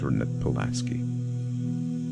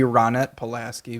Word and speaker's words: Ronette Pulaski: face her name was hernit Pulaski A desperate call that would Echo throughout an interesting pronunciation supposed to be Ronette Pulaski but I mean who